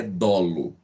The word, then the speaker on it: dolo: tá medo lu não muita gente fala duro tá errado a pronúncia correta é dolo tá a professora não